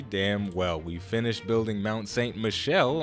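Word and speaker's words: Mont Saint-Michel: well we finished building Mount St Michelle I found out via sha Beanery that I was saying it wrong I was saying Mount St Michael before but you guys are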